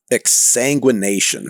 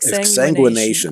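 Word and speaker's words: exsanguination: Exanguination, I think, is how you say it. Yeah, that's it. Exanguination.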